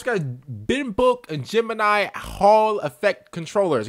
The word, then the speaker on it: Binbok: like a scuff controller bin book that's how you say it B book all right